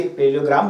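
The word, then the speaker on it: parallelogram: है, पैरेललोग्राम लॉ भी, पैरेललोग्राम बोलते हैं, ग्राम बोलते हैं, क्या बोलते हैं, इसलिए अच्छे से उसको प्रोनाउंस किए।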